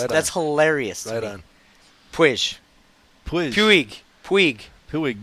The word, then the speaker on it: Puig: hilarious on pu pu Puig Puig Puig the g is silent Pew pey all right pey I I think he's pey I don't know he's